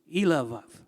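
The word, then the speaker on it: Eliab: from Issachar, Nethanel, son of Zir, from Zebulun, Elav, now the B's are pronounced like V's, son of Helon, from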